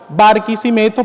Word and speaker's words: Barquisimeto: Venezuela una ciudad que se llama barquim lo pronuncio lento y claro barquisimeto para que lo entiendan bien hace años una